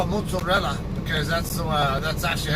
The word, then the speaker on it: mozzarella: Americans do and that's because it's an Italian word and I know some Italian so and I know how the Italian Linguistics rules are so so I call it mozarella because that's the that's